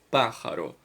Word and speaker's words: pájaro: Então, qual é a tônica? Pájaro. O pá é a mais forte, correto?